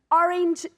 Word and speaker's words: orange: The A is pronounced like an I, okay?